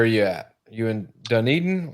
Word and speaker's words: Dunedin: You in Dunedin? Like what? Yeah, Dunedin. Look at see. Yeah. I'm glad you said it because I would have butchered how to say it.